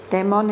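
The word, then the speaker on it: daemon: the muffled demon voice Damon is a Greek word it's connected with the word demon but we pronounce it differently and it means something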